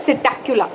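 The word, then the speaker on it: Psittacula: बड़ा अच्छा लगता है सिटक इसमें पीस साइलें होता है इसको हम लोग प्रोनाउंस करते हैं सिटक ठीक है पैरेट इसके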